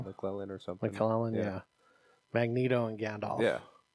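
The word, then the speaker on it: McKellen: the Gandalf okay yeah is that how you pronounce his last name mclen or something mclen yeah Magneto and Gandalf yeah so I think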